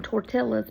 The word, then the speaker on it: tortilla: yeah I call them tortillas because of Brenda well I mean and to be honest that is how it's spelled even though in the espanoles to L's equal a y I do know that